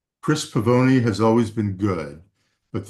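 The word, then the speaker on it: Pavone: This book, The Doorman by Chris Pavoni is how he pronounces it, um, blew me away.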